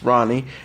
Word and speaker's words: Rani: we have dedicated the name our daughter Rani pronounced Rani after her grandfather Rana 50 Cal WA Ronald